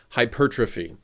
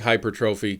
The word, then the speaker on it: hypertrophy: I looked it up turns out it is hypertrophy that is the preferred pronunciation it looks like hypertrophy can't really blame people who pronounce it that way but anyway what is